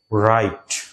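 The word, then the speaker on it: write: থেকে দেখো উচ্চারণ, দেখো রাইট, ব্রেস্ট এবং ব্র্যাপ। এখানে এই ওয়ার্ডগুলা থেকে কিন্তু ডব্লিউ এর উচ্চারণটা কিন্তু আসতেছে না।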